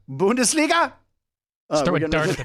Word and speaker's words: Bundesliga: do it yeah how do you say it Bundesliga Bundesliga throw a dart at the paper that's that's